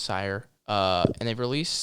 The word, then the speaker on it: Cyr: I think it's pronounced Sire.